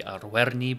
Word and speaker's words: Arverni: saying, was born into Arverni nobility. And yes, the more correct pronunciation of his tribe is technically Arverni, but I've started now, so I might as well carry on.